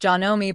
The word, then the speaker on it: Janome: When you buy from an established brand, think Singer, Brother, Janome, that's pronounced Janome by the way, Juki, Bernina, Baby Lock, Pfaff or Elna, you're not just buying a machine.